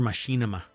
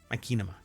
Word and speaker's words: Machinima: Machina or Machinima Machinima Machinima. It's Machinima. Anyway, uh cuz it's minations, but it's machinima.